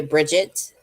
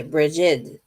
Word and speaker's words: Brigid: Some people say Bridget. Some people say Brigid.